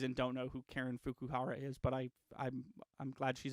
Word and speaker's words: Fukuhara: I really want to pronounce it this way. Fuck you, Hera. I'm sure it's not that. Fukuhara. Oh, Fukuhara? Fukuhara. That's definitely the way you should pronounce that.